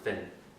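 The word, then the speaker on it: פֿון: Fun, yeah. phone. But in my dialect, they pronounce it fin.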